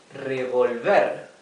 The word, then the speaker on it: revolver: this syllable revolver while this word has no TI this so This the accent is in the last syllable okay revolver and revolver okay the